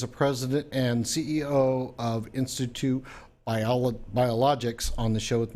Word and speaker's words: InSitu: Actually, you used the proper Greek pronunciation, or Latin, I should say, in situ. But the marketing aspect of InSitu means inside of you. So we say InSitu Biologics.